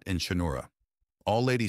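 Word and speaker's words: Cha'Noora: "Also, it's pronounced charat and chinura," All Lady says after a moment, and he gives her a look.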